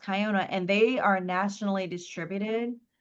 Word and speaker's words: Kiona: It's It's uh K I O N A. It's pronounced Kyona. Oh, yep. Okay. Yeah, they um some people say Kiona, but they're but it's pronounced Kayona.